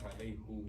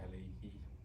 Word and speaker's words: عليه: No, why is it not alayhu? Why is it alayhi? Because of the ya.